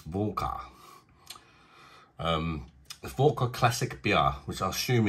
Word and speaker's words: Warka: This one, I think it's called Warka, because I've heard that in Poland they pronounce the W's as V's, so it's Warka.